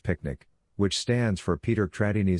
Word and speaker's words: PQNK: The PQNK pronounced picnic which stands for Peter